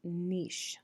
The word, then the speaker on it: niche: for a living thing the next term is pronounced neish so it's not pronounced niche it's pronounced niche